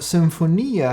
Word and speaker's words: symphonia: not sung now the symphonia has a similar connotation it comes from greek and you know the first syllable s-y-m-sim like in symbiosis always means something that